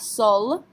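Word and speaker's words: seul: Yes, we have to pronounce this one as well. Remember, careful letters are C, R, F, and L. So we have sol.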